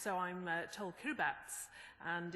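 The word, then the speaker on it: Kiribati: It's it's pronounced. So I'm TL Kirbats and it's in in the Pacific and I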